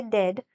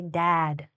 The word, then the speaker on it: dad: If you're saying dad, make sure to open your mouth. Don't say dead. Say dad.